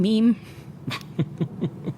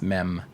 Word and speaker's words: meme: said do you mean meme you trying to say meme yeah I remember I remember someone uh asking me if I you know have you seen this meem pronouncing it like a French word or um it's also